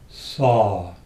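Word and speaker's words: sau: and outward, draw out the sound of the syllable saw, S-A-U.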